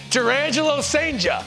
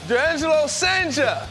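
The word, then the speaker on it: Jurrangelo Cijntje: Durangelo Sanger. Durangelo Sanger.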